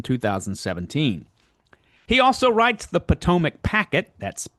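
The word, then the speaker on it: Patowmack: He also writes the Potomac Packet, that's spelled P-A-T-O-W-M-A-C-K, the Potomac Packet, on Substack, an ongoing collection of articles on the history of Washington, D.C.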